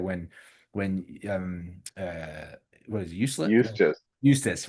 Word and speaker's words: Eustace: Eustace. Eustace, right? Almost Eustace. useless. Yeah, it rhymes with useless.